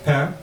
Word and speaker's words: pain: And the only thing you should know that in French, the word for bread is pain, and it's spelled P-A-I-N.